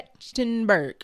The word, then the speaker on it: Trachtenberg: The director is Dan Trachtenberg. Am I saying it right? Yeah. Trachtenberg.